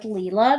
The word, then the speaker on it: Lila: on to Lila's Studio and it is Lila's I did confirm with Leela that's how you pronounce her name though they though she